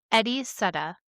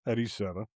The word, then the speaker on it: Eddie Seda: How did you pronounce his name? Heriberto? Eddie Seda. Eddie Seda.